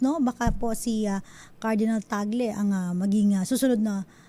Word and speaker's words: Tagle: mga napapanood ko ang ang tawag nga sa kanya ang pag-pronounce sa kanya apelido ay toggle cardinal toggle no pero sa atin siya po si cardinal tagle first time po na